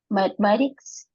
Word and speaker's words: mathematics: La TH es como Z, ¿verdad? Mathematics en esta palabra.